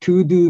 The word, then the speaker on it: Todo: The name looks like To-Do Metacomposite, but this To-Do is not To-Do.